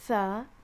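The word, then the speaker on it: ث: And then this one is tha. It's you pronounce it like the tha in thermometer, right? It's just tha.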